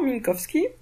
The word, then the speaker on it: Minkowski: relayée par min kovski je pense que là je l'ai prononcé correctement Minkowski et bien au départ